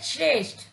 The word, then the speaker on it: श्रेष्ठ: प्रकार श्रेष्ठ बच्चों कि यह उचित शब्द होता है श्रेष्ठ परंतु कुछ लोग थक के स्थान पर तक का उच्चारण करते हैं जिससे उनका यह उच्चारण